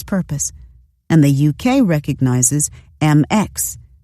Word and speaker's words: Mx: passports for this purpose and the uk recognizes mx pronounced mix as a gender-neutral title this petition asks the